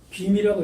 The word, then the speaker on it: 구미: 구미지봉, 이 지명으로 읽을 때는 구를 거북구로 읽으면 더 귀로 읽어야 돼요. 근데 지금 구미산이 공식 명칭입니다. 그러니까 헛소시 구미로 읽는데 귀로 읽어야 돼요. 귀미라고 읽어야 돼요.